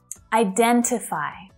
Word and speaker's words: identify: Identify. Identify. That stress is on the second syllable, right?